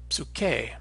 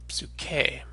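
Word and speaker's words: ψυχή: spirit or soul and this can be a little bit hard to pronounce for English speakers to pronounce this P and s sound at the beginning of the word you can practice it a little by inserting a kind of vowel sound and saying absolute k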